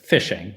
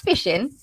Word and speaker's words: phishing: Because it phonetically sounds like I'm going to have a really good time out on the pond. But it's spelled Phishing.